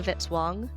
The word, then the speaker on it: Vitzwong: Music by Kevin Vitzwong, rhymes with hit song.